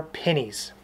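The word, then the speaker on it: pinny: They are pennies.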